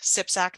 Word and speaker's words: CPSAC: talk a little bit about sipsac that's how we pronounce it our members Partnerships